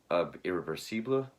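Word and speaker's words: Irréversible: And this is actually his second film from 2002, Irreversible, or I believe the French pronunciation is Irreversible.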